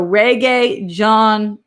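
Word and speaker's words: Regé-Jean: pronounced like genre wait jean in french not like the pants jean oh that's john wait how i'm i'm not cultured here gene is masculine like john let's see so reggae john page reggae on page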